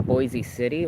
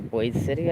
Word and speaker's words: Boise City: in Boise City or Boise City, I think it's how it's pronounced out here in Oklahoma.